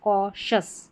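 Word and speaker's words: cautious: ये क बन गया सी ए यू क और शस कौशस कॉशस का मतलब है सावधान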